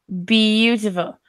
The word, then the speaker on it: beautiful: So when we write this word, it's easy for us to think beautiful. Beautiful. But actually this A we don't even pronounce.